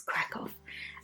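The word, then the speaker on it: Kraków: So, I'm like, "Is it crack or crack off?" But it's crack off.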